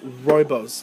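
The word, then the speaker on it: rooibos: royos tea in this one and it it's pronounced royos like r o y uh Bose like like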